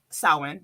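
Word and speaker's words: Samhain: we also celebrate um sin because that's how it's pronounced and we do our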